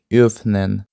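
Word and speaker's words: öffnen: І воно читається як фнен.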